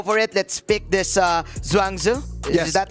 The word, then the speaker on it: Zhuangzi: Let's pick this Zhuangzi. Is that how we pronounce it? Yes, sir. Zhuangzi.